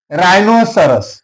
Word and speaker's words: rhinoceros: Rhinoceros, here H is silent.